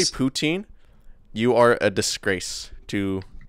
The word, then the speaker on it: poutine: Is that how you say it? Putin? Wait, that's how you say it? Poutine? Yeah, right. Yes. What the fuck? That's poutine. Yeah, same.